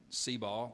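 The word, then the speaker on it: Seabaugh: will tell you that where i grew up cba which is spelled s-e-a-b-a-u-g-h is a name of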